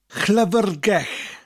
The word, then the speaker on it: llyfrgell: Two double L's. One at the beginning, llyfr, and then one at the end, gell. The double L at the end is always pronounced slightly differently, more of a sound with a slight L.